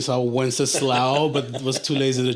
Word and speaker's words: Wenceslao: It's not a one-syllable name. Yeah. Wenceslao. That's why I brought it out to one syllable.